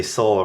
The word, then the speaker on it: Seoul: Soul, because no Korean would ever just say soul, right? They always say it like soul.